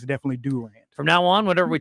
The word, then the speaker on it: Durant: that the other day that's how the locals pronounce it I say Durant but if you're the locals it's definitely Durant from now on whatever